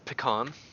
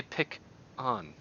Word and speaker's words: pecan: But I do start my second syllable with the hard k sound. I don't say pick on. I don't say pecan. I say pecan. Pecan. Not pick on.